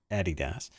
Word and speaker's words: Adidas: Adidas, that's supposed to be the correct way to say it, Adidas, is taking Thom Browne to court.